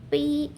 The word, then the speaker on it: prognosis: The main stress is on the second syllable. So prognosis. I guessed as much, but tell me, what is the difference between prognosis and diagnosis?